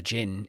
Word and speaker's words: djinn: do he captures a gin and even in the subtitle it's spelled similar to this d DJ G DJ I NN and it's a it's